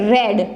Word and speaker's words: read: a v3 of read it is a red okay the spelling is same but the pronunciation is different then say use preposition